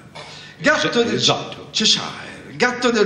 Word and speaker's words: Cheshire: di una zona dell'Inghilterra che è il Cheshire, così si dovrebbe pronunciare. Gatto del Cheshire, gatto del Cheshire, gli appare su un albero.